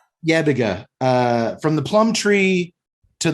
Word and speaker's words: Yebiga: Yebiga. Yebiga, from the plum tree to the bottle here in the Corner No Hope.